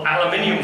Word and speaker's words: aluminium: year one group got aluminium fluoride and the other group got sodium fluorine notice the pronunciation please of aluminum it's a one-man crusade i'm having here you yanks get it wrong it's not your fault